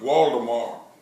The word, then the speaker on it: Waldemar: There were ranchers and farmers, and his name was Waldemar, which is German, but we put a V in my name, but it's still pronounced Waldemar.